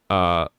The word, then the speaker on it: Malachi: Malachi, thank you for the additional buck. It's pronounced Malakai.